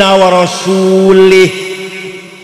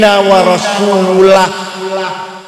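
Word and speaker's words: وَرَسُولُهُ: Yang benar bacanya innallaha bari'um minal musyrikin wa rasulah. Allah tidak melindungi orang musyrik dan Rasulullah pun tidak melindungi orang musyrik. Warasulah bacanya, jangan warasulih.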